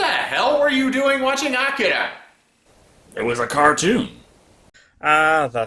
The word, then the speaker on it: Akira: No, you said Akira. It's Akira. You have to remember, the Japanese language is very syllabic in its pronunciation.